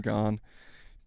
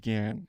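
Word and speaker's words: Gann: And by the way, WD Gan, I guess it's technically Gan. I don't know why I'm saying Gan. His name is pronounced Gan as far as I as I know.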